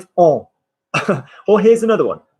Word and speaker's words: on: And on, you're going to say in the French way, like on, like we. Say for me, on. On. No, it sounds like an English person from Yorkshire saying on. Say for me, on. Make it vibrate in the nose, on.